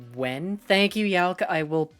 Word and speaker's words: Nguyen: It's pronounced more like Wen.